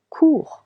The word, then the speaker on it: cours: clearer courir to run je cours with s tu cours with silent Il elle ont court end with letter T is also silent.